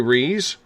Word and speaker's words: Ruiz: Rees. Apparently I'm getting the last name right after getting schooled a couple weeks ago at the Forest Moon Paracon, because it's spelled Ruiz, but it goes by Rees.